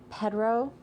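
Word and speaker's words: Perthro: The next one is uh Pedro and which is funny because it's not spelled like Pedro at all. It's called It's spelled P E R T H R O.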